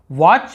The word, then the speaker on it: watch: याद है WATCH सर, लेकिन आप कभी सोचे टी को नहीं पढ़ रहे, वॉच नहीं बोल रहे, वॉच बस बोल रहे हैं।